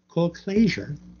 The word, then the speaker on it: Colclasure: And it is by a writer named Dawn Colclasure. I always rush through her last name and I mispronounce it. Colclasure.